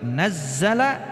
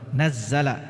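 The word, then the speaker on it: نَزَّلَ: Nazzala ya, dari nazala nazzala ya, itu beda ya.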